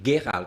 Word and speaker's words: Gerald: If you were to say my name in German, it would be Gerald. It's a hard G.